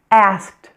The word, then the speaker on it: asked: In most cases, the E in the ED is silent.